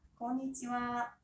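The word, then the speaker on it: こんにちは: konnichiwa. 한 번 더요. konnichiwa. 스펠링은 konnichiha. 제발 좀 와라고 쓰시면 안 돼요.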